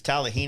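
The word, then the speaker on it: Talihina: through yeah tallahina yeah i always say it wrong it's tallahina is a town talamina is the parkway and mina arkansas is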